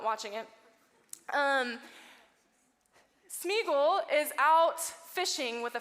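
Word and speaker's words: Sméagol: So this is Smeagol, right? Cutter, did I say his name right? Smeagol.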